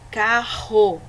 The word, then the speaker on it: carro: Ou seja, essa palavra escrita com dois R's, nós vamos sentir o R tremer na garganta, porque ele é um som mais forte, ó. Carro, terra.